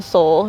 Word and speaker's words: Sol: we're Sun worshipers um Soul it's s-o-l like sun in Spanish but phonetically it sounds like Soul Awakening like waking people up